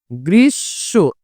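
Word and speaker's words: গ্রীষ্ম: শেষ বর্ণের সাথে আছে তার মানে এই শব্দটার উচ্চারণ কিন্তু হচ্ছে গ্রীস্য এই যে এটাই উচ্চারণ অর্থাৎ যার সাথে আছে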